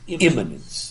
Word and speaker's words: immanence: Do they focus more on God's transcendence or God's immanence? Immanence is spelled I-M-M-A-N-E-N-C-E. Don't confuse it with eminence, like greatness, but immanence. What do those mean?